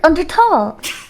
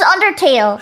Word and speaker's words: Undertale: and slip on these nuts under who under under tall under tall what are you laughing Sans